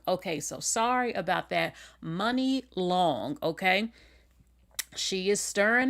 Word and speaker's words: Muni: Now, I always was calling her Mooney long that my I guess it's just how it's spelled. So, and I'm not the only one. A lot of people call her Mooney Long, but it's not Mooney Long. It's money long.